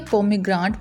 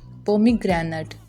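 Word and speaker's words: pomegranate: कुछ लोग इसे पोमीग्रांट बोलते हैं लेकिन वो ठीक प्रोनाउंसिएशन नहीं है। पोमीग्रेनेट इज the right pronunciation.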